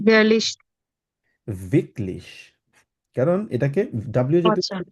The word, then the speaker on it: wirklich: ভিকলিশ। কারণ এটাকে ডাব্লিউ জাতীয় আচ্ছা, খেয়াল রাখতে হবে, ডাব্লিউ বিটলিশ। সবসময় উচ্চারণ করবেন, যেখানেই থাকুক, যেই জায়গায় থাকুক।